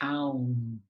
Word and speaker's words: aum: And then we'll resolve the three-part practice with a seed syllable of A-O-U-M. Okay, aum.